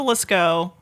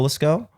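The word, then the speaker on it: Lascaux: how do you spell let's go l-a-s l-a-s c a u x I think oh yeah it's French so you gotta have at least 12 silent letters I know I feel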